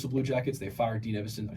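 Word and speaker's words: Dean Evason: They fired Dean Evison.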